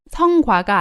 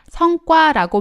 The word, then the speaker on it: 성과: 발음이 성과가 아니라 성과라고 발음하는 것을 주의하시기 바랍니다.